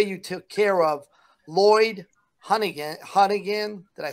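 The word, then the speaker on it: Honeyghan: think the way you took care of Lloyd Hunnigan, did I say it right, guys? Yeah, Hunnigan.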